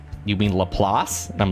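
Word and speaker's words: Laplace: I for years I called it lapis. It's lelass, but I knew it as lapless.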